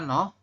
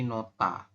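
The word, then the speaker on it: 놓다: Kemudian yang terakhir yang ini tulisannya nohda. Tapi kita bacanya adalah nohta. Iya, nohta ya Robun. Ini ya. Kalau ada diget ketemu dengan hiet, maka diget berubah bunyi jadi tiet. Makanya kita bacanya menjadi nota.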